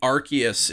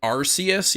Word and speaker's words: Arceus: I'm hoping Arceus yeah that's the incorrect way of saying it I think that used to be the official way and then they changed it I think Arceus was like the original pronunciation but it is officially Arceus no yeah you're right